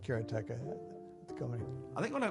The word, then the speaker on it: Karateka: A lot of people say karate or keratika. In Japanese, uh there's no stress on any syllable, so it would be karate, something like that.